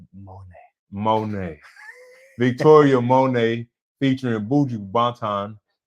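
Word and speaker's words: Monét: You gotta say her name like say Monet.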